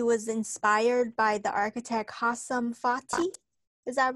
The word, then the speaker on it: Hassan Fathy: Eugene, while studying at Delhi, he was inspired by the architect Hassan Fathy. Is that right? Is that how you say his name? Right. Hassan That's Fathy. That's right, Hassan Fathy.